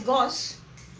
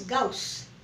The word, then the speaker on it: Gauss: Now many pronounce it as Gauss, it is Gauss.